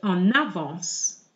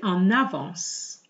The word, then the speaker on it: en avance: Je suis en avance. Here I am joining the N with the A is what we call a liaison. Je suis en avance.